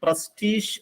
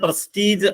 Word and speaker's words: prestige: അതിന്റെ ശരിയായ ഉച്ചാരണം പ്രസ്റ്റീഷ് എന്നാണ്. PRESTIGE. നമ്മൾ സാധാരണ പ്രസ്റ്റീജ് എന്ന് പറയാറുണ്ട്. ബട്ട് it's exact pronunciation is പ്രസ്റ്റീഷ്.